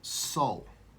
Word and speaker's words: sol: So, what we come to find here is the sun is symbolic for soul. The Latin word for sun is S-O-L, pronounced just like S-O-U-L, soul.